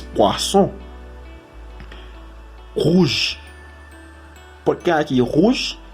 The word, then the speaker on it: poisson: Porque si fuera con una sola S, sería poison. Pero con dos S es poisson.